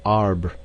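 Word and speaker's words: arbre: was pronounced um and in the same way he was taught to pronounce ape Sange and tree AR he was a most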